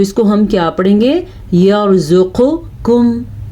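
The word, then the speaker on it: يرزقكم: अगर आप इसको पढ़ते हैं यर्ज़ुक़ुकुम, आपने गलत कर दिया। अगर आप पढ़ते हैं यर्ज़ुक़ुकुम तो भी गलत हो गया। तो इसको हम क्या पढ़ेंगे? यर्ज़ुक़ुकुम, मोटा क़ाफ़ और बारीक।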